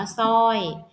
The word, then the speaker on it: สร้อย: สร้าง ให้ อ่าน ว่า สร้าง สร้อย อ่าน ว่า สร้อย สระ น้ำ อ่าน ว่า สระ น้ำ นะ คะ ก็ จะ ไป คือ ท.